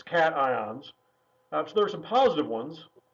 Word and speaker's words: cations: ions which are called cations not to be pronounced occasions it looks like it should be said occasions its cations that's there's some positive